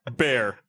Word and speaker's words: Bexar: is it Bear? It's Bear, Bear. What? not Bexar. Was what I used to say. Bex, the county. The X is silent. The silent X. Bear County. BEXAR. Bear.